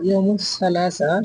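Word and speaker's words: الثلاثاء: হয় ইমুল ইতনিন সোবার ইম তালাতা মঙ্গলবার এটাও ইমু সালাসা শুদ্ধভাষ ইমু সালাসা আরবিতে বলা হয় ইম তালাতা মঙ্গলবার ইমুল আরবা বুধবার ইমুল খামিস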